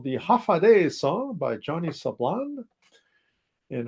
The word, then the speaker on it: Hafa Adai: Just pronounce it as Hafa Adai.